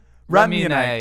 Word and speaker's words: Ramune: Ramune.